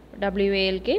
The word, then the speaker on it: walk: okay first one is walk w a l k so here which is a silent letter yes l is a silent letter so walk we will read it